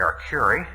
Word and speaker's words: Arcuri: My name is Arcuri.